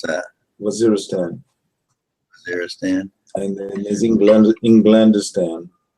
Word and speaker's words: Waziristan: How do you pronounce that? Waziristan.